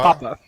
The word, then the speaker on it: Papa: I wanted to make sure I pronounced your last name right. Dr. Papa? Papa, yeah.